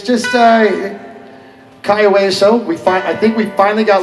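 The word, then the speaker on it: Cayo Hueso: for Meeting of the Minds, and it's just Kaiweso. I think we finally got Lyle Wilson to pronounce it properly.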